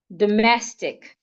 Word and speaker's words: domestic: So I can have the word domestic, domestic, not domestic, domestic. The letter O changes to a schwa, domestic.